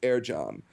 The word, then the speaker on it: Ercan: So in Turkish, if it's a C, that's pronounced with a J. So it's Ercan, and that's pronounced Ercan.